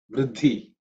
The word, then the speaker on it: buddhi: next month pronunciation Wise It's same thing as buddhi the second letter in the buddhi should be aspirated okay foreign let them